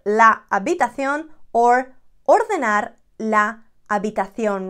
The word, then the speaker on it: habitación: Recoger la habitación or ordenar la habitación. Remember, the H is not there. We never pronounce it.